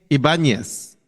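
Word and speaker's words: Ibáñez: Yeah, it's IBA with a P and then an N-Y-E-Z. Enye Ibanez. There you go.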